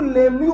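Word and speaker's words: Lemieux: लिख पाए बदतमीजी देखो साला ई भी साइलें साला एक्स भी साइलें अबे सपने में आया था क्या मेरे कि यह साइलेंट होगा इसको लेमू पढ़ा जाता है इट्स लेमू रिएजेंट ठीक है तो व्हाट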